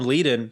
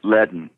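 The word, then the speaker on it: Leadon: I also read that you and Tom Lydon, the other guitar player in Mudcrutch... He pronounced his name Ledden. Oh, Ledden. Pardon me. Yeah. Tom Ledden.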